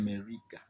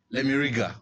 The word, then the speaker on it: Lemiraga: Most people always get that name wrong. It's Yes. Lemiriga. Lemiriga.